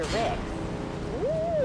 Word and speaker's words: Ricks: Name's Inspector Ricks. I knew where Rick's. He had a big one. What? That's disgusting, Mom. You know what I mean, right? Yes, mother. We all know it rhymes with bricks.